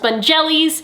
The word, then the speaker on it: Spongellé: is going to be getting them some Spongelles. I've also heard it pronounced Spongellés, which I personally prefer because it's a lot more fun.